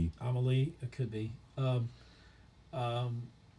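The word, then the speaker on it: Amélie: I feel like the the little Amelia or I I think that's probably pronounced Amaly. Amaly.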